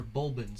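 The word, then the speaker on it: Bulblin: i just called them goblins how did they pronounce it they're bulbans i see it okay cool in his pursuit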